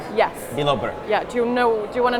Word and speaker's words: Bilobrk: Can you pronounce your last name for me so I say it properly? It's Bilobrk. Bilobrk. Yes. Bilobrk.